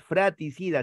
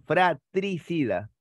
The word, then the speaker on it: fratricida: No es fraticida, sino fratricida.